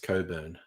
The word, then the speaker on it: Cockburn: that's what I thought cockburn is normally pronounced Coburn yeah of course canra